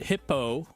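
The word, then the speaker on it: Hippeaux: So I I put hippo hip hippo. It's spelled hi p e a u x.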